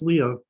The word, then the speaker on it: Leigha: So today we're going to be hearing from Leigha. Did I say it right, Leigha? I'm usually Princess Leah is Yeah. good. Okay. Princess Leah.